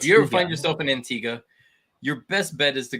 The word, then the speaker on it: Antigua: had to learn that that's actually how you pronounce it we thought it was antigua they were like hey you're saying it wrong and we're like we are we're staying around yeah it's antigua so if you ever find yourself in antigua